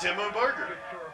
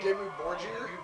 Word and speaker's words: Dimmu Borgir: Oh, that's Demo Burger. What the fuck are they doing here? You mean Dimmu Borgir?